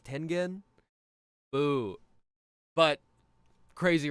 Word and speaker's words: Tengen: He pronounced it Tenjin instead of Tengen.